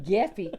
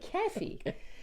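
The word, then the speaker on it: κέφι: of that geffy geffy k e fi geffy pronounce g but it's K just to let you know key yeah key not geffy keffy so I had none of that no keffy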